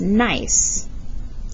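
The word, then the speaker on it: gneiss: this rock right here it's pronounced nice you can see the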